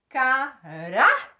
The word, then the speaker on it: caráter: Por exemplo, caráter. Olha o rá sendo a sílaba mais forte.